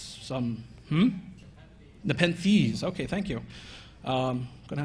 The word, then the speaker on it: Nepenthes: One's called Nepenthes, and I'm probably mispronouncing that because it's some Nepenthes.